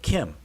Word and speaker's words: kem: Now, the way I'm saying it, Kem, that's the same way that we would pronounce the adjective that means black. It's also pronounced Kem.